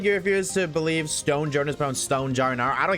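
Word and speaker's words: Stonjourner: Pokemon is smoking pot or some That is Stone Joner, not Stone Jr. Rar. doesn't even have the letter A in his name.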